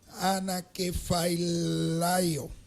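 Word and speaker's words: ἀνακεφαλαιόω: Aquí hay una palabra griega bien interesante, es difícil su pronunciación. Anakephalaio.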